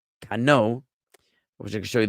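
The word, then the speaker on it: כנו: Et, the object, the kior, the laver, the et kano, and it's kano, which I can show you the word, but I don't have the citation to navigate to the verse immediately.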